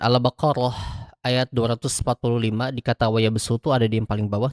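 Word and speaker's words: وَيَبْسُطُ: Nah, jadi teman-teman ketika membacakan Albaqarah ayat 245 di kata wayabsu tuh ada di yang paling bawah tuh, maka dia dibacakannya dengan huruf sin, bukan dengan huruf shad.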